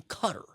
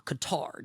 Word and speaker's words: Qatar: They fired missiles at a base in Qatar or Qatar depending on your preferred pronunciation.